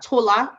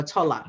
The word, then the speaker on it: Tola: There are two ways you can pronounce that, Tola or Tola. And most times it is Tola to most people. But at least it's close enough.